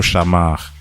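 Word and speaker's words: שמר: le plus parce que je vais prononcer en français, avec l'accent français, c'est le mot « shamar ». S-H-A, un seul M, parce que des fois j'en vois qui écrivent avec deux, mais c'est un seul.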